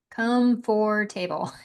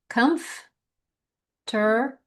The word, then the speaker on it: comforter: Comb for table. Come for table. It's actually comforter.